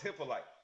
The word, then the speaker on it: Hyppolite: right Don't let those Americans tell you how to say your name." I've been saying right. my own name wrong all my life because it was given to me in someone else's dialect.